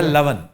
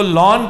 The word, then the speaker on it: लवन: वो लॉन कहते हैं, लावन लावन है, लेकिन लवन लून है, नमक। लून उसका मिसप्रोनाउंसिएशन है।